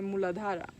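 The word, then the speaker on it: Muladhara: is the root chakra in Sanskrit we say mooladhara and it has four lotus petals so the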